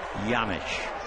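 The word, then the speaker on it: Janish: That last name J an IS. They tell me it's a Czechoslovakian name, but he has no idea why the J is pronounced like a Y. Yamich last year he hit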